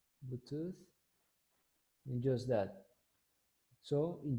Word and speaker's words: Bluetooth: device and bluetooth the the pronunciation is tooth bluetooth and just that so